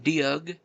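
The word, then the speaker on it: Doeg: Said it could have been Dug, that's how you pronounce his name. Doe, maybe who was an evil, violent man.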